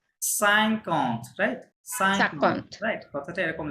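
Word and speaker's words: cinquante: বলতেন যে সাইকন্ট হ্যাঁ আসলে কিন্তু কথাটা সাইকন্ট হ্যাঁ সাইকন্ট কথাটা অ্যাকচুয়াল সাইকন্ট কিন্তু ফাস্ট হবে ওদের যার কারণে ওই কথাটা ওরকম সাইকন্ট শোনা যাবে ওই এন এর যেই অ্যাকুইট সাউন্ডটা ওটা একটু কমে যাবে হ্যাঁ যার কারণে ওরকম শোনা যাবে আমার কথা বুঝতে পেরেছেন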